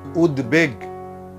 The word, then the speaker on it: উদ্বেগ: উদ উপসর্গের সঙ্গে বফলা যুক্ত হলে সেই বয়ের উচ্চারণ অবিকৃত থাকে, অর্থাৎ ওই বর্ণটির দ্বিত্ব হবে না, দুবার বলবো না আমরা। যেমন উদ্বেগ, উদ্বেগনা, এটা হবে উদ্বেগ।